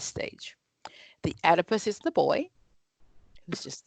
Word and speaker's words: Oedipus: It is divided into my Electra stage as well as my Oedipus stage. And it does start with an O, but that O is silent, so it's the Oedipus stage. The Oedipus is the boy who's